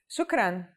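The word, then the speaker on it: شكرا: someone let's start with the most common phrase shukran shukran means thank you to say thank you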